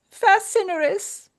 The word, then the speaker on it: facinorous: It is spelled f a c i n o r o u s. Fascinous.